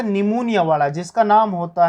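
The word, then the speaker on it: pneumonia: इसने बैक्टीरिया ले रखा था निमोनिया वाला, जिसका नाम होता है स्ट्रेप्टोकोकस। सुना है आपने ये नाम, निमोनियाई। निमोनिया की स्पेलिंग पी से स्टार्ट होती, क्यों होती है हमें भी नहीं पता लगा आज तक।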